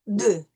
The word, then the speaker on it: deux: And then we have the EU combination, which is going to be a more nasal sound, right? So it's going to be grand, petit, trop, de.